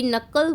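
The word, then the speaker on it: knuckle: शी नकल walked chewed on, ध्यान से प्रोनाउंसिएशन को सुनिएगा बच्चे, एक बार फिर से बता रही हूँ, ये जो आप वर्ड देख रहे हैं यहाँ पर, इसको नकल बोला जाता है।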